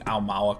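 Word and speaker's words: Aumaua: Now, we have to ask, am I pronouncing Almawa correctly?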